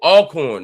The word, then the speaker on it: Alcorn: Because you're saying it wrong. Cawthorn. Oh, Alcorn, not Elkhorn.